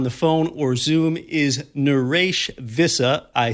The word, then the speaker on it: Naresh Vissa: race today and by the way the correct pronunciation of his name for when you're with him on the phone or zoom is naresh visa i say it wrong sometimes in today's environment